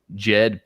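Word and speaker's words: Djed: And when you look into Pat and the uh he had what was known as the Jed pillar. Now, this is spelled DJ E D because they were Jedis, right?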